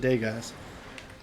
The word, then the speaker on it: Degas: It's the British version, and his name is Rupert Degas, or Degas. He pronounces it Degas.